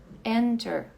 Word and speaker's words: enter: é que na a a sílaba mais forte não é a final é a anterior é enter enter essa daqui é